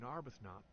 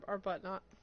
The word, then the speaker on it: Arbuthnot: Arbuthnot. We're never pronouncing the H at this point.